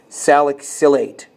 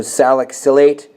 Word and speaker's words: salicylate: ethyl in this case salicylate that's how you pronounce it so salicylate just like you would with the ethanoates or the butanoates salicylate is spelt like